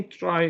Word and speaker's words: trie: try uh is is this word comes from retrieval okay from retrieval and we pronounce it as try Okay so let's see